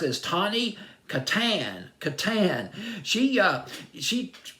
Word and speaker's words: Tawny: her name Tony Tony I believe I just pronounced it as Tawny Katan Katan she uh she very athletic she